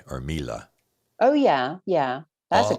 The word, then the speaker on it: Miele: My wife and I got this new machine called, I think they pronounce it Miele or Mila.